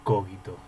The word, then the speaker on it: cogito: Descartes se pronuncia Descartes y cogito se pronuncia cogito. Es drújula y con una U entre la G y la I.